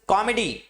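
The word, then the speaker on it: comedy: ये क्या होता है, इसका सही प्रोनाउंसिएशन कॉमेडी, क्या बोलते हैं हम, कॉमेडी, यानी कॉ पे हमने जोर दिया और मेडी पर जोर नहीं दिया। एम्फसाइज हम कॉ पे कर रहे हैं, मेडी पे नहीं कर रहे हैं, क्योंकि इंग्लिश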